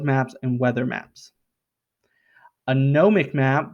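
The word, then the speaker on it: gnomonic: and weather maps a gnomic map because the g is silent sailors use it for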